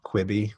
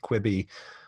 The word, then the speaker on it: Quibi: as quickly as possible, there's this ambiguous pronunciation here. Is it Quibi? Or like, I think like a Francophone would probably think Kibi, like with that pronouncing the Q-U-I-B-I in a different sort of way. So the Chinese might go Chibi or Chuibi.